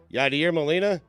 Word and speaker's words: Yadier Molina: Yadier Molina?